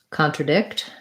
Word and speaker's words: contradict: your vowel and then for um contradict stress is on the last syllable again so we would just have contra contra so this is an ah little secondary stress there i'm guessing getting really tiny sorry contradict um great question